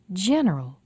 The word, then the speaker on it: general: can you hear it the usual place for stress in a l words is two syllables before the a-l ending listen medial radical economical